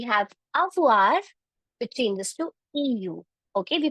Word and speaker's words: eu: So we have avoir, which changes to eu. Okay, we pronounce it as e.